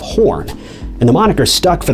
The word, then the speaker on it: Horne: who during roll call accidentally pronounced his surname as Horse instead of Horn, and the moniker stuck